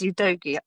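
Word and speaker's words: Udogie: and we goti back I had to look up how to pronounce ydogi the last night because I started calling him ud you doi thinking it was you know the right thing to say but it is you doi just just you know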